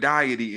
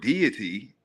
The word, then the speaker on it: deity: Now, you might hear the word deity and if if you got an accent, you might pronounce it diety. But diety, but what makes it, it's not funny, but I get it because if you look at the word deity, right, I can see if you just pronounce it like it looks, it looks like diet, right?